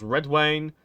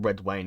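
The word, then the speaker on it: Redwyne: Hightower of course how's Red Wayne or is it redwane or red wine no I always gone from Red Wayne because the Y is sort of it's like a Wayne it's with Game of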